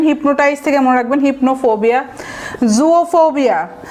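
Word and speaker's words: zoophobia: জুওফোবিয়া, এটা উচ্চারণটা কিছুটা জুও বলবেন, জু বলবেন না। জু তো আমরা জানি চিড়িয়াখানা, বাট এখানে রুট হচ্ছে জুওফোবিয়া, এভাবে বলবেন জুওফোবিয়া।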